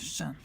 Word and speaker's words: 单: If you see anybody whose surname is this character, it's going to be pronounced Shan.